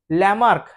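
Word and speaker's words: Lamarck: था लमार्क John बिकमार्क spelling लेकन John बोलते फ्रेंच लमार्क अ लमार्क के बारे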